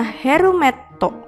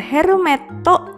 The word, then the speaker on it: herumetto: Berikutnya adalah gambar helm atau dalam bahasa Jepang adalah herumetto. Gambar herumetto mengingatkan kita pada huruf he.